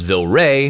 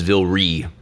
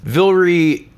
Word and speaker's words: Vilray: always pronouncing it incorrectly I thought it was Vil ray but it is Volare I looked at his Twitter Vil REE is amazing in my